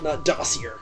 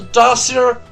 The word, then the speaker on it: dossier: don't see it because that's how it's pronounced dossier if you pronounce a dustier just you're American no you're stupid don't